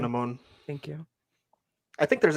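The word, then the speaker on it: Anck-su-namun: I think there's actually a more historically accurate way of pronouncing it, but I will say Anaxunamun because that's what they say.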